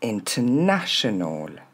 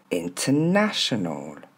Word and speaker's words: international: On commence international plus lentement. Vous entendez ? On entend pas le R. international le deuxième traditional regardez